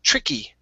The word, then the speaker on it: tricky: When you have this Y here, you've got to pronounce it. Okay, so instead of saying a trick task, it's tricky, tricky.